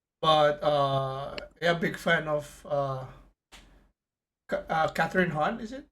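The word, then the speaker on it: Kathryn Hahn: But yeah, big fan of Catherine Hahn. Is it right? Did I say it right? Catherine Hahn. Yeah, Catherine Hahn.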